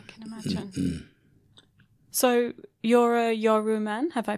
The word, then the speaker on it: Yawuru: So you're a Yawuru man, have I pronounced that? Yawuru, sorry, from Broome.